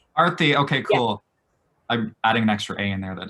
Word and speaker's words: Aarti: Can I also just confirm that I'm pronouncing that right? It's Aarti. Aarti, okay, cool.